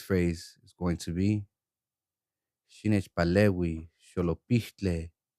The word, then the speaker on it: Xinechpalehui xolopihtlé: Xinechpalehui, xolopihtlé. Xinechpalehui, xolopihtlé. What does this phrase mean? Xinechpalehui, xolopihtlé. It means, help me, idiot. Now a syllable form. She, nech, pa, le, we, sho, lo, pih, tle.